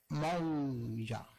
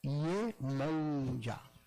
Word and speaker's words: Iemanjá: O Urubá, ele pronuncia Iemanjá. Olha o J gutural. Iemanjá.